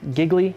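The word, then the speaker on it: Gigli: asked like lays here giggly pronounced Julie around really right he's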